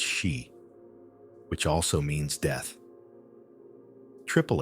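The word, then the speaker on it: 四: In Japanese numerology, the number four is pronounced she, which also means death.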